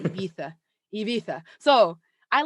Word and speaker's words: Ibiza: I have to say with the España accent, Ibiza.